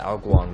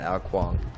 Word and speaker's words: Ao Guang: You know, if you're with the Ao Guang, that is how you pronounce it, Ao Guang, not Ao Guang.